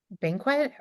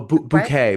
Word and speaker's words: bouquet: one to the other was because play banquet. Am I saying it right? Oh bouquet.